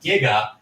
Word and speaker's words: giga: he would know that the prefix is pronounced giga instead of i mean he's